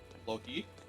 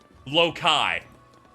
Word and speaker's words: Loki: Alto, how would you pronounce the name of Thor's brother? Loki. Does he say Loki? Lokai.